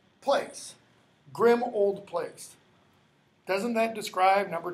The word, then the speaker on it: Grimmauld: ul D plays so a lot of people say Grimmauld but it's pronounced grim old plates grim old place doesn't that describe